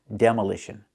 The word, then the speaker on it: demolition: And there's also a noun, demolition. We see how the stress moves. The stress is on the de and the ish. Demolish. Demolition. That's the noun.